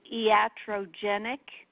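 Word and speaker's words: iatrogenic: version there I updated every few years the pronunciation is e at row genic okay yeah Cho genic means relating to illness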